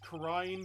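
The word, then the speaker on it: Kurain: It's pronounced Crine, but I'll just let that slip. So this is Crine Village, Maya's hometown.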